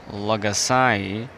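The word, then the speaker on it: Logasai: use some one program it's called Lagasai. L O G A S A I. I hope my pronunciation was clear.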